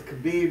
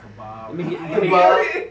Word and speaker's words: Khabib: I heard it's like kebab.